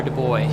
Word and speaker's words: Du Bois: Is it Du Bois or Du Bois?